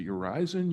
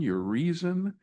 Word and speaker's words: Urizen: And then just even the basic pronunciation is it your horizon your reason? I'm not sure. Yes. It's all of them.